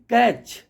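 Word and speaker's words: catch: जो होता है ओ एफ टीई एन है कैच सी एटी सी एच है तो मैच एम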